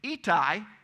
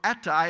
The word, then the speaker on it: Ittai: Ittai, or Attai as we pronounce it, was sixth.